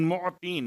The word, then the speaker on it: معطین: بہترین۔ یا خیر المعطین، معطین، میم عین توئیں یہ نون، معطین، موتی۔ اب چونکہ اگر